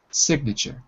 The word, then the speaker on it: signature: silent it's just quiet signature sig sig so you can hear it's not very pronounced and the last thing is the tu in sure it's pronounced like a ch so t u equals ch signature like church signature